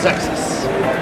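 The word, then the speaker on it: Xexyz: Zexus, because it's hard to pronounce, or you wouldn't know how to pronounce it just by looking at it. But my understanding is it's pronounced Zexus.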